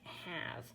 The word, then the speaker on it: have: And then here it gives this little hint that have sounds like have, because it has that silent E at the bottom.